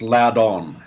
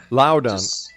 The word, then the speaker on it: Loudon: It's actually pronounced Loudon. Loudon.